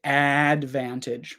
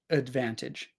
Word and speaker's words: advantage: go there we go so schwas sound uh it's not we don't say Advantage we say Advantage Advantage Advantage so we've got the schah sound here on the first one and we've got the schah sound here on the last one so it's uh uh uh uh but here in the middle we have the short a sound a so uh a